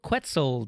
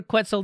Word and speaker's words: quetzal: then in October 18th quantal quetzel 12.10 cat solar quetzal depending on your pronunciation was released and is